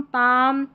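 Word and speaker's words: palm: काम, पाम, Simon, और यह बाम, ये है आमंड, क्या है आमंड।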